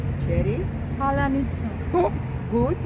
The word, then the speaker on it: паляниця: So also you will have 5 attempts to pronounce hard Ukrainian word Palianytsia.